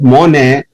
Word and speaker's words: Monet: The reason is that Monet, the T is silent, is a character which is not so famous.